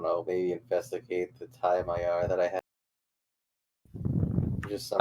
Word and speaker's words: Magyar: Yes, it's spelled Magyar, but it's pronounced Mayar, so I keep pronouncing it like that.